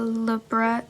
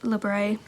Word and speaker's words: labret: Originally, I was going to get just a regular labret labret. Please don't hate me. I I've seen it pronounced both ways.